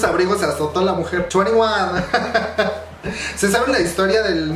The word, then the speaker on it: 2NE1: Entonces dijeron, hay más perras, les ponemos la N en medio y se sigue pronunciando de la misma manera, pero se llama diferente, o sea, no va a haber pedos legales y así.